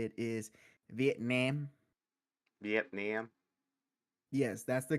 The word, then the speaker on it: Vietnam: to to say uh to say it is Vietnam Vietnam yes that's the correct way I am